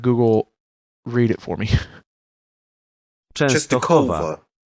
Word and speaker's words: Częstochowa: Częstochowa. Częstochowa, Poland. Which is interesting because it's a W, but pronounced like a V.